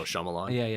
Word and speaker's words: Shyamalan: Oh, Shyamalan.